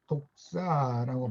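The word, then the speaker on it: δόξα: 말씀이 육신이 되어 우리 가운데 거하심에 우리가 그의 영광을 보니, 여기 독사라고 발음하는 헬라어 같은 영광이 쓰였어요.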